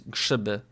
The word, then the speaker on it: grzyby: And then mushrooms, grzyby.